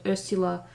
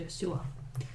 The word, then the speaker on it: Ursula: she preferred I think the pronunciation of her name was a sewer so if accidentally said Ursula please forgive me it's actually a sewer yep so this one's